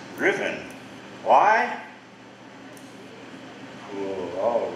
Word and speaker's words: Ruthven: By the way, that name, Riven, it's spelled R-U-T-H-V-E-N. Ruthven maybe, but it's pronounced Riven.